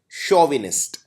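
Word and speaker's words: chauvinist: CHAU को हम pronounce करते हैं शोविनिस्ट।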